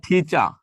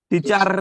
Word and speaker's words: teacher: এটা উচ্চারণটা হচ্ছে ঠিচা, টিচার না। এটার উচ্চারণ ঠিচার না, ঠিচা। আচ্ছা, CAT, এটার উচ্চারণ কি?